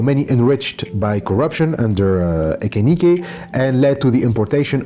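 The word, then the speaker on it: Echenique: So his predecessor was Jose Rufino Ekenike, I think that's how it is pronounced, or Echenike. Anyway, so his predecessor, he ruled from 51 to 54, and I'm gonna say Ekenike.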